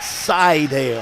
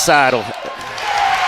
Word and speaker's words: Seidel: Might be pronounced more like Seidel. Yeah, it's Seidel. And underneath, there he is again, taking the charge. Seidel.